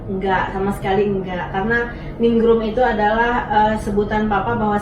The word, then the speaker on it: Ningrum: Nama saya itu 3 suku kata Pak. Iya. Ningrum.